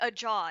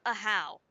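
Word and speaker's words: Ajaw: name because I'm like I'm not going to think that based of how it's spelled. Then I'm going to think a jaw, not a how. But as long as I hear it, then I remember it's not pronounced the way it looks.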